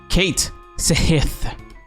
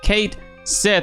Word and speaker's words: Cait Sith: in Final Fantasy 7 rebirth Kate Smith is pronounced Kate Sith fifth here okay sip finally guys it's pronounced Kate Seth and this has a lot of traction I